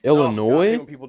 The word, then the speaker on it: Illinois: Because I don't know if you heard, Illinois is back. Illinois? Illinois? Oh, I hate when people do that. The S is silent, like debris, or like Big Ten playoff win.